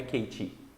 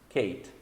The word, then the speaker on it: Kate: Então, o E no final de palavras em inglês, ele não é pronunciado.